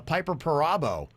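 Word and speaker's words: Piper Perabo: the people that were in it like uh piper parabo she was in that that's how you pronounce her name and she looks uh great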